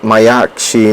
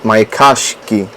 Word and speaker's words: Mayakashi: If I'm still saying it wrong, then blame how people say it in Japanese, because according to them it's called Mayashi, not Mayakashi.